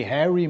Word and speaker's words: Harry: O primeiro deles é o vice-presidente do São Paulo, que é o Harry Maci, se escreve Harry, mas se pronuncia Harry.